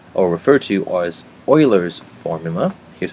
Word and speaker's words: Euler: them which is called or referred to as Oilers formula here's how you spell it you can uh look up more on